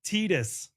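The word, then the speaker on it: Tidus: It's pronounced Tetus.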